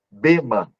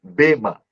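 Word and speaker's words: βῆμα: Então, no grego, é a pronúncia bema, certo? Entenda bem, bema.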